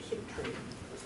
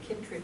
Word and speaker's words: chytrid: I believe it's pronounced chytrid. That CH sound is usually pronounced K instead.